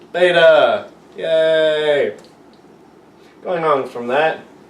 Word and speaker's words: beta: And it is pronounced beta.